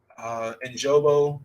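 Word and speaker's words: Ogunjobi: They lost, I want to say it was Larry Ojobo.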